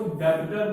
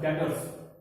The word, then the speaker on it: debtors: देखो डेटर मतलब होता है, कई बच्चे इसको डेबिटर बोलते हैं, बी इज साइलेंट। ठीक है, तो बोलेंगे क्या, DETORS डेटर्स। इसमें डेबिटर बी को नहीं देना, बी साइलेंट है।